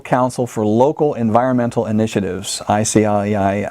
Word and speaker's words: ICLEI: It's the International Council for Local Environmental Initiatives, ICLEI, ICLEI, we pronounce it.